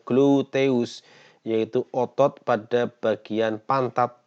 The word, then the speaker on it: gluteus: Misalnya pada gluteus maximus, ya, pengucapannya gluteus, yaitu otot pada bagian pantat yang besar, ya.